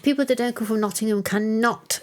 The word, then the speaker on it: Nottingham: there's no such place I keep telling you how to pronounce it Nottingham I thought even the locals dropped the G occasionally no try and be